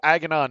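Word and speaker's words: Aganon: when we were in voice chat um so agonon is spelled a-g-a-n-o-n and he he greets you as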